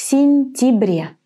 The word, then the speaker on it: сентябре: And in the last word, в сентябре, we actually pronounce it as an I. В сентябре.